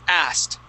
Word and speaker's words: asked: When it ends with a K sound, like ask, the ed ends with a T. The word is asked.